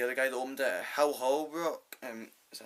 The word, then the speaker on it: Hal Holbrook: One guy gets killed, and the other guy that opened it, Hal Holbrook, is that how you pronounce it? Hal Holbrook, yeah.